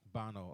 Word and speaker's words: Bono: Bono.